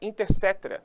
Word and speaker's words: Inter cetera: é assinatura da bula Inter cetera né Oi pronuncia Inter Inter coetera e escreve mas é inter cetera que se pronuncia por um tratado mediado